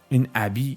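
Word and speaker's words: ابی: to mabeenād kass peeshgāh" "abi" is not pronounce "ebi" that refers to something else it's a manner of saying "bi" (without) it was abbreviated later, it used to be "abi" "mabeenād" means, may no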